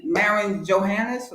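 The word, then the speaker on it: Marine Johannès: Maren Johannes. That's how you say her name.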